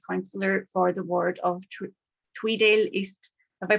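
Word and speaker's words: Tweeddale East: In 2012, Stuart was elected to represent his constituents and the SNP as Scottish Borders Councillor for the ward of Tweedale East. Have I pronounced that right, Stuart?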